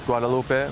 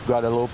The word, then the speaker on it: Guadalupe: people told me it's Guadalupe. I thought it was Guadalupe. Just from living in Southern California for a while, I got used to pronouncing that extra E on the end.